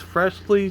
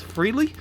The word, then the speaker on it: Frehley: It looks like it's Freshly to me, but I think it's Ace Frehley.